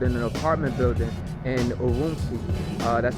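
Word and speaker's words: Ürümqi: that actually erupted in an apartment building in uruzu that's spelled u-r-u-m-q-i on Thursday night where the fire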